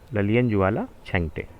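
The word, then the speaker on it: Lalianzuala Chhangte: लेकिन अगर 2022-23 की बात की जाए तो ललियन जुआला छेंगटे, ललियन जुआला छेंगटे, अब उच्चारण कुछ भी और कर लें आप, लेकिन जनरली यही होगा, ललियन जुआला छेंगटे।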